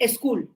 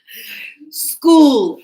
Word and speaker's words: school: When you go Saturday, Sunday, students school, you don't say a school, correct? What happened? Yeah. I'm going to a school. No, not a school. School.